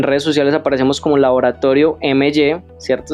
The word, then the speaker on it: MY: En redes sociales aparecemos como Laboratorio MY, ¿cierto? Se pronuncia My, pero ese es, digámoslo así, el gran reto de nosotros. My como mío en inglés, precisamente porque nos gusta